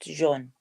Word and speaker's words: Jean: is it yes not John John okay I was what was just John I've always since I was a child been told it was Sean Jean as in like French Jean she says she can